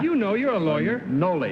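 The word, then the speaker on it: Nolle: Okay, everybody Noel Prost? Is that the way to pronounce that, Bud? You know, you're a lawyer. Noli is the first part of it. Noli? N-O-L-L-E, Noli Prost.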